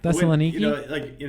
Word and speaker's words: Thessaloniki: Garrett, you can feel free to correct me, but Thessaloniki, Thessaloniki, I believe is what. Yeah, and Thessaloniki. obviously, if you're a Christian and you read about Paul's time in Thessaloniki, and the Bible says Thessalonica.